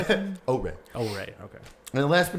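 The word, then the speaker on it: Oure: And then they showed off another game called Ore, but it's spelled O-U-R-E. But thankfully they said it's pronounced Ore, so I had no idea.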